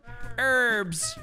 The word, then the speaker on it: herbs: might say or herbs herbs as you americans like to say even though there's a h you guys don't even like to use the h you say h herbs